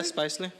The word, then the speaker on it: Spicely: Spicely? Yeah, Spicely.